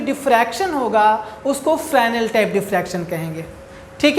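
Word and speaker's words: Fresnel: से पहला है आपका फ्रैनल डिफ्रैक्शन। प्रोनाउंसिएशन पर ध्यान दीजिए, हमने इसको पढ़ा है फ्रैनल, ठीक है ना। फ्रैनल डिफ्रैक्शन पढ़ा जाता है, इसको एस यहाँ पर साइलेंट रहता है, ठीक है।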